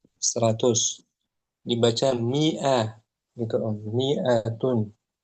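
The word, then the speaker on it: مائة: Miatun. Ada alif setelah mim itu dia penulisannya saja panjang tapi jangan dibaca panjang. Miatun jangan miatun atau jangan maatun jangan miatun.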